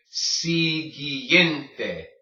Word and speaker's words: siguiente: Siguiente. This is all one word. Siguiente, okay? When you have a G-U-I, it makes the G sound.